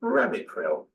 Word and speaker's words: Ramipril: They're called Ramipril.